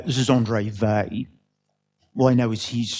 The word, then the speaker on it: Weil: So we have our metric, our Weil Petersson metric, and it has various properties, none of which I find obvious, but known to be true. So, properties of the Weil Petersson metric.